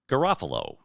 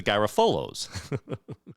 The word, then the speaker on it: Garofalo: we were laughing because they pronounce their family name Garofalo. But everybody in town that I know refers to them as the Garofolos.